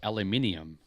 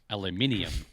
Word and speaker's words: aluminium: Well, there's no I after the N in aluminum. Correct. That's why we call it aluminium.